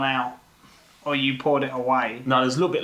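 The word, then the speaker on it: A&W: It's a cross between the AW root beer, which because I've had. You said AEW, but it's no, AW.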